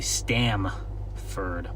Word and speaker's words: Stamford: Stanford, I guess that's how you pronounce it. Sounds like Sounds like Stanford, but uh it's actually Stamford, but I'd love for